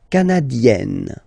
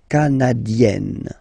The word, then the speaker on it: canadienne: Le Canada, canadien, yin, here, canadien, canadienne, yen. Remember, here you've got double N, so you've got to open the so it will become canadienne.